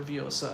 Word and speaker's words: Vyosa: So for my R I use r, and then I use pretty tense vowels for Vyosa.